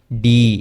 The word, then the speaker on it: D: আচ্ছা, এইটা আবার অনেকেই ঢি বলতে চায় না, এটা হচ্ছে ডি, একটু উচ্চারণ। হ্যাঁ, একটু আমরা দেখি যে পশনে চলে আসে, বাট ওইটার কোনো দরকার নেই, এটা ডি, ডি।